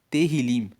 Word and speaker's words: Tehillim: Uma outra questão dos salmos é que o nome salmos no hebraico é Tehillim. Se escreve T-E-H-I-L-I-M e Tehillim significa louvores.